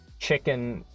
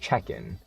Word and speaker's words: Chechen: You think that chicken... Oh, it's pronounced Chechen. Yeah, okay, Chechen. I think, yeah, Chechen. That sounds about right.